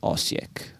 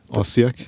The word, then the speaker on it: Osijek: It's called Osijek. Osijek? Yeah. Oh, Okay. you're good with pronunciation.